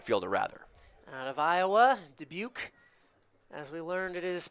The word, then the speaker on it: Dubuque: Out of Iowa, Dubuque, as we learned it is pronounced, is a redshirt freshman with the Hawkeyes.